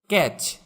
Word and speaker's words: catch: ক্যাচ, CATCH, ক্যাচ, এখানেও টিটা উচ্চারণ হবে না।